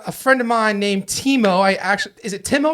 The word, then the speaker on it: Timo: so they went with Teemo and that's the correct pronunciation in German but since I've been living in the states it's Timo okay naturally I come